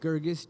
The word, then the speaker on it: Girgus: how do you say your last name gergus g i r g u s that's what